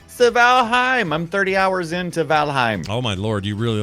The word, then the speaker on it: Valheim: valentine well yeah yeah valheim was just to be you know annoying but valheim is actually how you say it at least that's what i've been told now and corrected many times keep keep in mind